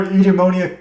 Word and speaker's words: Eudaimonia: JP's here with, we tried to pronounce it before, EUDAIMONIA Comics. Is that how we pronounce it? Yeah, you got it.